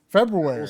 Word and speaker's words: February: February. Spell it. Spell it. February. Fe Feb. I I think really February. Feb. See, I I I don't pronounce like the first R.